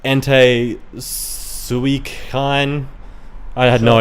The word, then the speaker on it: Entei: yeah, like the legendary dogs, which are all pronounced way different than I thought. Oh really? Yeah, I was like Entei Suicune.